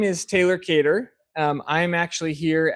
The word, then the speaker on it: Kedar: Well, my name is Taylor Kedar.